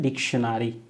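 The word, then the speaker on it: dictionary: फिर NARY, आपको यहाँ पे NE नहीं लगाना है, NARY लगाना है, तो डिक्टियोनारी, लेकिन इसका प्रोनाउंसिएशन होता है डिक्शनरी।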